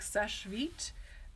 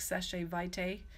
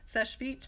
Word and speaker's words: Seche Vite: solvents are you like Seche vite and that is how you pronounce it it is it looks like sachet vitae and I've heard it said that way but that's not it sesh feet means quick dry in